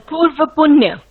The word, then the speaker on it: Purva Punya: The 5th is our house of Purvapanya. There's a house, and I may have mispronounced that. It's the house of previous good, or of good fortune. The Purva Punya. Yes, so much true. I did pronounce it right.